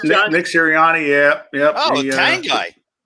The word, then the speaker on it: Sirianni: Did I pronounce his name right, John? Nick Sirianni, yeah.